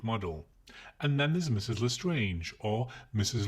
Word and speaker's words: Lestrange: Lestrange. Why didn't he just pronounce the word the English way?